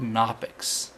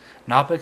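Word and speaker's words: Knoppix: where to even start I would say download knopic knopic is a live CD it's spelled k n o p p iix or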